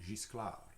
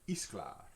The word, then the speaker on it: Gisclair: Like we pronounce it in French, we pronounce it Gisclair. Gisclair rather than Gisclair, the name Gisclair. And then, and actually, in South Lafourche Parish, where my mother's from, the J sound, it was pronounced like an H. So they were pronounced like Isclar, Hisclar.